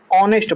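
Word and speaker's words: honest: ऑनेस्ट मैन में एच जो होता है साइलेंट होता है और यहाँ पर हम ऑनेस्ट बोलते हैं।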